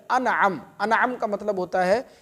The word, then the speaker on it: انعم: وہ ہے انعم۔ انعم، بعض لوگ اس کو انم بھی بولتے ہیں، انم یہ صحیح تلفظ نہیں ہے، صحیح لفظ ہے انعم۔ انعم کا مطلب ہوتا